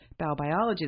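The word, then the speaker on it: Baubiologie: you should learn about biobiology. The first thing was to learn how to say it, B-A-U, biology, but it's a German science about how our environment affects human health.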